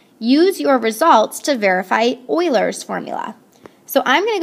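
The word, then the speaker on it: Euler: I know it looks like ulers, but it's not ulers. It's pronounced Oilers.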